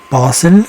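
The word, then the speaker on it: Basel: files than necessary okay this one is in bosel in Switzerland that's actually how they say it they have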